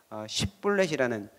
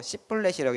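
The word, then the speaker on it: 쉽볼렛: 그래서 그 에브라임 사람들은 그 이스라엘에서 에브라임 사람들이 못하는 발음이 있었는데 쉽블렛이라는 이 발음을 시키면은 못하고 씨블렛이라고 이렇게 발음을 했나 봐요.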